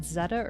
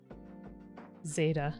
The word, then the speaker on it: zeta: i saying that right is it zetta or zeta i never know so many of these i've only seen uh in text form so i never know how you're actually supposed to pronounce them zeta okay sounds good beta with a z instead of a b though sometimes you could say betta maybe thanks don i